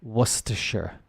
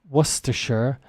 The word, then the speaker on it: Worcestershire: UK this one is Worcestershire it's a type of source that can be difficult to say because of its many silent letters and the sh sound in the middle was to share yes areas of the